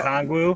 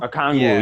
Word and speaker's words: Okongwu: Oniko Okongwu. Okongwu, yeah.